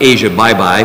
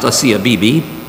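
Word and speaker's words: Asia Bibi: recent release of a CFPB it looks like Asia bye-bye but it's pronounced hacia Bibi she's a Christian who spent the last eight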